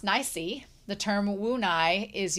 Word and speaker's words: Nice: For nice, which is pronounced nicey, the term wu nai is using the same first character to mean to have no choice.